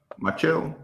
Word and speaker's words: Machado: Machado.